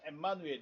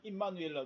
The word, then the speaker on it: 엠마누엘: 우리와 함께 계시다 함이다네 헬라 헬라어는 엠마누엘 엠마누엘 우리 발음은 임마누엘라 돼 있는데 원래는 엠마누엘 돼 있고요 자 원래 가브리엘 천사는